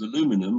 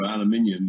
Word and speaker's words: aluminium: speculating about it would have two sheets of aluminum or aluminium is the proper pronunciation of that is sandwich sandwich in what